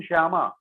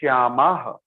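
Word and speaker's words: श्यामाः: Visarga you have to pronounce clearly, otherwise it will become Shyama and the whole meaning will change. Now Shyama and Shyamaha.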